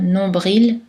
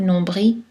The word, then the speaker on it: nombril: Sa prononciation peut être variable, comme nombril ou nombril, persil ou persil, sourcil, sourcil.